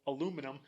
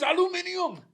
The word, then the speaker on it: aluminium: this is what's going to start wars the pronunciation of Wars yes because it's going to be our God in heaven art thou aluminum it is aluminium and then somebody's going to be like well